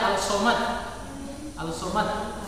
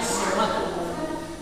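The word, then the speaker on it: الصَّمَد: Jadi tidak dibaca Al-Somad. Tulisannya di situ Al-Somad, tapi bacanya As-Somad.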